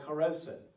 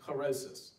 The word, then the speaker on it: charoset: Traditionally, we remember this task in a mixture called charoset, or some Jewish people pronounce it charosis.